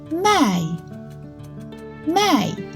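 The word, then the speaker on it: 卖: both have different tones this character the tone is the third tone and this one the tone is the fourth tone so all pronounce it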